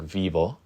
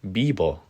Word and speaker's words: vivo: I found out that the V's in Spanish, the letter V, are pronounced as B's, the letter B.